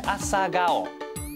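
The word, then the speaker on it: 朝顔: 咁啊日文嘅讀音咧就係 asagao， asagao 就係呢個喇叭花啦。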